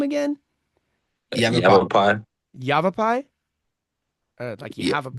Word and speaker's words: Yavapai: Yavapai. Yavapai. Yavapai? Yeah. Like you have a pie?